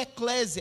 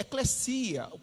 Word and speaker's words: ekklesia: E o interessante é que a eclesia não é eclésia, é eclesia. A palavra original você pronuncia eclesia.